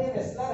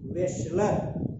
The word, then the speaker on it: Wechsler: और ये इसमें सबसे इंपॉर्टेंट जो नाम है पहला, वो वेस्लर है। स्पेलिंग देख लीजिए, पढ़ते वेस्लर है लेकिन ऐसे लिखेंगे, SLER, WECHSLER, इसको पढ़ते हैं, हिंदी में लिख लीजिए वेस्लर।